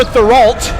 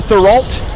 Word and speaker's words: Therault: It's Summer Therault is how you pronounce her last name. We'll get it right from now on. Summer Therault.